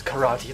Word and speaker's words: karate: I knew I should have taken those karate lessons. Yeah, karate lesson. Karate, by the way. That's how you pronounce it.